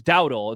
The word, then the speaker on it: Dowdle: It's Dowdle. It's not Dowdell. Are you He is sure?